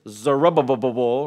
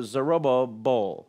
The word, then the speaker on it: Zerubbabel: We'll look at those men, and we might say his name is just Zerubbabel, right? That's how we might say it, or something like that.